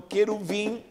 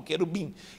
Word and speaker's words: querubim: Então, queruvim, e se pronuncia queruvim, não querubim.